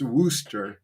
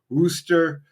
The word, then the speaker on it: Worcester: It's spelled like Warcester, but it's pronounced Worooster or Worcester. Uh, the best way we could find to pronounce it was a pizza place in the city called Wooster Pizza.